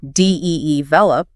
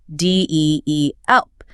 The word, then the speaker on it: develop: Many learners might guess the stress is on the first syllable, develop, Right. but it's actually on the second, deelp.